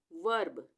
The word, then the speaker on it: verb: VERB, वर्ब, वर्ब, और आ रहा है ना वर्ब, व के साथ अ का स्वर आ रहा है, उसके बाद र, वर्ब।